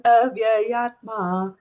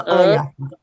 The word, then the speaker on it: avyayātmā: You can still go slow and you can still look here. Avyayātmā. Yātmā. Avyayātmā. Avyayātmā. No. Avyayātmā. Say that again. Avyayātmā. There is no ayatma.